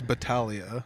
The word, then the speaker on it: Battaglia: pronounce your last name battalia battalio so uh i've often wondered that because i hear different people pronounce it different ways and i'm always wondering how to pronounce it so it's battalia yeah and uh i think